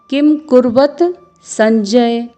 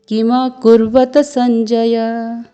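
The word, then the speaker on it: किमकुर्वत सञ्जय: कई लोग इसको किम कुर्वत संजय इस तरह से पढ़ते हैं, जो कि शुद्ध उच्चारण नहीं है। क्योंकि ये संस्कृत है, इसलिए आपको इसका उच्चारण करना होगा किम कुर्वत संजय।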